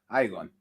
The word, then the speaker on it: Iagon: Porque en inglés la I suena Igon.